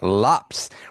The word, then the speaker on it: Lopez: So So apparently pronounces his last name as Lops rhyming with hops.